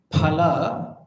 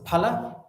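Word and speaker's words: फल: You say hum pha. Huh? Pa and pha. Pa and pha. No? If you say phala, what is phala? Phala is fruit.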